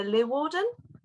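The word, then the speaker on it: Leeuwarden: she used to live in to give the pronunciation uh lee Warden oh it's so close it's amazing all these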